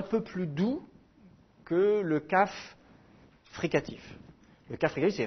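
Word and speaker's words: כף: Kaf. Le kaf, avec un dagesh, se prononce K, normal.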